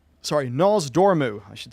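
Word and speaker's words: Nozdormu: the magic flowing through him and here is nos domu sorry nasdormu i should say it right i always mess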